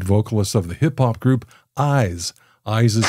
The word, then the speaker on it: iies: II the lead vocalist of the hip-hop group eyes eyes is spelled i i s and pronounced eyes Craig